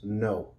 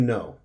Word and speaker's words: know: The K is going to be silent and the W is going to be silent. So we're just going to say these two letters, know. To know.